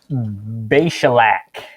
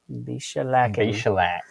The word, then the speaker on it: Beshalach: This is Beshalach. Beshalach.